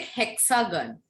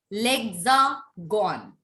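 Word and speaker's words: l'Hexagone: It's, you people are saying it hexagon. Yes. It is not hexagon. Yes. It is called lexagon.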